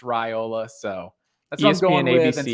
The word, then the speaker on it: Raiola: my mind a bunch of times, but yeah, Raiola is what I was told. I saw on a message board somewhere, almost like a PSA, like, hey, just so everybody knows it's Raiola.